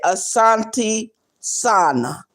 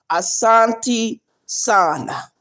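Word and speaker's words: asante sana: And the way um Swahili words are are are spelled. That's the way you say it.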